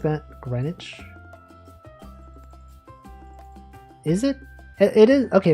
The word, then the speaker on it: Greenwich: Green Witch Greenwich. The W is not even like there.